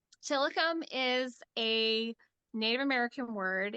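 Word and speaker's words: Tilikum: go you heard you've heard it from Claire tillicom tillicom is a Native American word it probably originated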